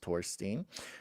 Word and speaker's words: Torstein: Comes from old Norse for Torstine, pronounced Torstein for Thor's stone, the magical stone a top Thor's hammer.